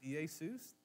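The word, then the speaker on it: Ἰησοῦς: In the Greek, you would pronounce it Iesus.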